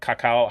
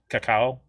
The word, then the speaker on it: cacao: imperial style aged with bourbon barrels chili's uh kakao how do you say that sean i always say that wrong cacao cacao coco c-a-c-a-o nibs cinnamon cumin styronese and